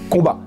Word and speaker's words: Combaz: de lointaine ascendance savoyarde on devrait donc en bonne logique ne pas prononcer le z et vous appelez de christian combat alors christian combes à quoi eh bien